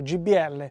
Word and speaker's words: JBL: JBL, che noi in Italia abbiamo sempre pronunciato GBL.